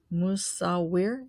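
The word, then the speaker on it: Musawwir: It starts with an M as in Mary. Mu, and then an S as in Sam, Sawir. And it's got two W's in the middle in the transliteration.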